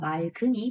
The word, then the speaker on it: 맑은: 모음으로 시작되는 어미가 붙었으므로 리을과 기역 중에서 뒤에 것인 기역이 연음되어 맑은이 표준 발음입니다. 6단원에서 살펴봤던 겹받침 리을 기역의 발음 기억하시죠?